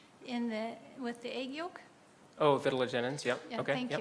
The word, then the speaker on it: vitellogenins: And the more simple question is that with your vertelagen genes, if I'm pronouncing that right, with the egg yolk. Oh, vitellogenins, yep, Yeah, okay, thank yep.